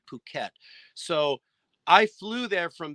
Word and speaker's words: Phuket: went to my pronunciations won't be right, but you went to Phuket. Is that how you say it? Phuket. Phuket. Yeah. Phuket. But it looks like F-it, you know, Phuket.